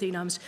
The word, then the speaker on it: enum: Since I tend to look at it as a standalone word which is related to enumeration, but not an actual abbreviation for it, I pronounce it enum.